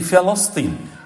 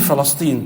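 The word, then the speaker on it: فلسطين: By the way, Palestine, the right pronunciation, we all make this mistake. بكسر الفاء وفتح اللام. You say Palestine. Fa with kasra, al-lam with fatha.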